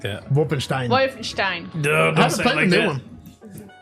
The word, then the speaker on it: Wolfenstein: of games I played Wolfenstein and dune don't say it like that Wolfenstein Wolfenstein don't one don't say it in German he's going to try